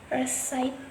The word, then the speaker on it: receipt: And next, receipt.